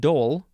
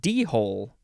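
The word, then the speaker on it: dhole: next word is uh well it's pronounced Dole but it looks like d-hole it's spelled d-h-o-l-e Dole noun from Circa 1827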